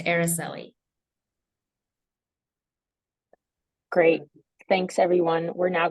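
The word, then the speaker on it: Aricely: and my first name is pronounced araseli great thanks everyone we're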